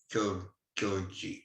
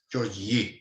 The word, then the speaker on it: György: his first name correctly, which is not György, it's György or something. György, I think the Y you actually pronounce.